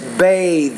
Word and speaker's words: bathe: And it's bathe.